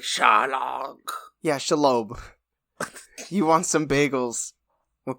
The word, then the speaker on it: Shelob: I think his name is Shelob, which, if that's true, that is a Jewish-ass spider.